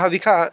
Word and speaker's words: हविषा: यहाँ हविखा, ये आप लोग हविषा पढ़ते होंगे। तो हविषा जो है वो वेद के हिसाब से अशुद्ध उच्चारण है, हविखा जो है वो शुद्ध उच्चारण है।